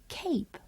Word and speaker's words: cape: a short a sound when the letter E is added to the end of cap the a becomes a long a and says its name while the e is silent so cap becomes cape let's read some words